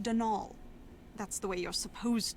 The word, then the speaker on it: Donal: the caretaker Donalda Lainey not Donald mind you there's no D at the end so it's pronounced dnal that's the way you're